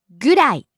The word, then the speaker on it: ぐらい: 10分 Next, ぐらい about. ぐらいぐらい Falls on the second syllable ra.